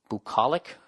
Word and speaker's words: bucolic: what does it say please pronounce BU CEO Li see bu CEO Li see bucolic Vermont